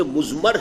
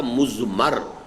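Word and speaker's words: مضمر: ہے وہ مزمر ہے۔ عام طور پر جو ہے اس کو تلفظ ہم کر دیتے مزمر، اردو دان، لیکن یہ کہ اب آپ تو عربی دان ہو گئے نا، تو اس لیے آپ کو صحیح تلفظ کرنا چاہیے مزمر ہے۔ دوسرے حریت عمل ہے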